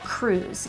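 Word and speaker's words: krewes: is put on by what we call cruise and that's spelled k-r-e-w-e-s now every single parade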